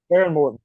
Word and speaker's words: Behren Morton: Behren Morton, correct. Yeah. Yep. Just want to make sure I pronounce that right.